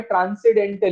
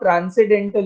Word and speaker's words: transcendental: do you understand by transcendental equation? Though here the alphabet n is used, but that n is silent, so it is not transcendental equation, it is transcendental equation.